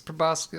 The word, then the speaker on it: proboscis: Heinrich, I believe you found a stinger, some kind of a proboscis, or proboscis, depending on how you would like to pronounce it. That's, where I'm from. Yeah. It's proboscis.